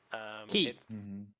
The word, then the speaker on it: quay: And you guys pass a stone quay, if you're familiar with what that is. Key. It's Quay. It is pronounced key. Key, really? Yeah, you would not expect it.